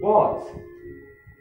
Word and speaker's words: bought: And now we go to number 6. Bought. Bought. Bought. Bought. So the G is silent.